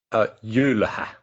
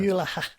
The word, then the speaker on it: Jylhä: Firstly, for us down here, how do we pronounce it? Jylhä. Yeah. Jylhä.